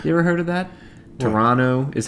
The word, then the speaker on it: Toronto: ever heard of that toronto is how you're supposed to pronounce it pot pontiac ponte pontiac not there's no tea in pontiac and there's no t in toronto evidently well there is